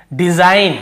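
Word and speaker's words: design: पहले जी एन के पहले जी तो देखिए डिजाइन हम इसे क्या पढ़ रहे हैं डिजाइन डिजाइन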